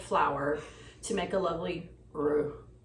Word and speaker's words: roux: little bit of flour to make a lovely roux.